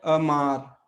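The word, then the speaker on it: amar: तो शब्द शुरू हो रहा है अ से, ओ आ से, लेकिन हम इसको आ नहीं पढ़ रहे हैं, आ, लेकिन दूसरे एम के साथ में यहाँ पे आ आया है, तो ये अमार।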